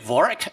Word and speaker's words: Vorick: for us to uh meet with uh david vorak did i pronounce his name correctly yeah that's correct all